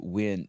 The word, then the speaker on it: Nguyen: And Nguyen, you pronounce it Win, W-I-N.